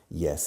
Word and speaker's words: yes: Pero fijaros en la pronunciación. Yes. No se dice yes. Yes. Yes. Entrando como si fuera una I latina. Como en la palabra hielo en castellano. Hielo. Yes.